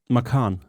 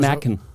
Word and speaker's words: Macan: How do you pronounce this? Macan. Okay. Because I thought Not it was Mackin.